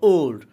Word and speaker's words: old: এখানে ও এর উচ্চারণটা আমরা আগে ও করতাম, কিন্তু ও না, এটা হবে ওল্ড।